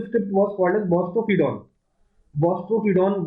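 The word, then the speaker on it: boustrophedon: बॉस्ट्रोफिडॉन बोला जाता है, ठीक है।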